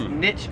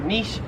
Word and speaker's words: niche: 44 is niche or niche. So in America, again, Americans say this one, 50-50. Again, I am split 50-50. I've said both, and I don't know what sounds better. Both ways. I've heard Americans say niche. I've heard Americans say niche. But it's pretty common to say niche. I lean towards I myself niche. Always said niche, but in Australia, no one says niche. It is niche here in Australia.